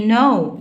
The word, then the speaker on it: know: what do you know، know هنا خد بالك الكي هنا silent مش بنطقها.